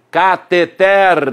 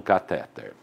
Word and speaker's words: cateter: Aquela tubulação, então, se chama cateter, doutor, não catéter.